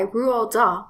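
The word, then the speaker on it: Roald Dahl: the 1988 book by rural DA and yes that is how you pronounce it and the 1996 movie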